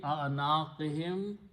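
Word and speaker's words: أعناقهم: Then you combine hum for better recitation we do not pronounce hum, we pronounce him for easy tajweed. So it becomes fi a'naqihim, around their necks.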